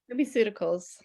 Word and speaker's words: LumiCeuticals: LumiCeuticals.